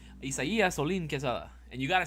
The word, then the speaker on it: Isaias: My name is not Isaias. My name is Isaias. If you want me to get hella Mexican about it, my full legal name, my full government name, Isaias Olin Quesada.